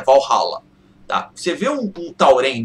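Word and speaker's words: Valhalla: um tauren no valhala na verdade não é varala né No Brasil se fala varala mas a pronúncia certa é valhala tá você vê um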